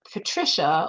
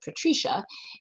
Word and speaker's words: Patricia: in the diner, and this song Patricia, although my family pronounced it Patricia, came on, and it was a song by Perry Como, who was a crooner that my mother loved.